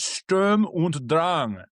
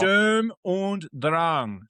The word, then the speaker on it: Sturm und Drang: In honor of our vast German population of viewers, whom I adore, it's Sturm und Drang. Sturm and Drang. Sturm und Drang.